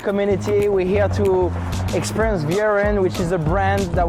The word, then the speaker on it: Vieren: Yeah, Vieren, I pronounced it properly?